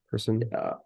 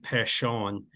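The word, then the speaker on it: Persson: isn't it yeah pear person person I mean they're gonna call him person this year oh yeah his uh his last name is actually like Pon is how you say it in Swedish oh man but he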